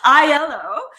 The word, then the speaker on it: Aiello: this week we're interviewing rosie aylo i yellow sorry i said it wrong again i yellow and after a 25-year